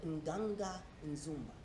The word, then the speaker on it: Nganga Nzumba: was talking about, right, is a mispronunciation of Nganga Nzumba.